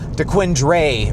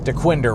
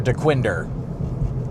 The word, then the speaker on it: Dequindre: it correctly because it looks like it says Dquendre or or or Dquindra where it's just pronounced Dwinder Road or Dwinder.